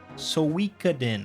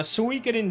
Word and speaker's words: Suikoden: Suikoden. I think that's how it's pronounced. As far as my knowledge of Japanese phonetic pronunciation, it sounds like it would be correct.